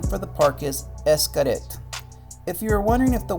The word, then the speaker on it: Xcaret: want to pronounce it excret but that would be wrong because the word is actually mayan and in mayan an x is pronounced as an s so the proper name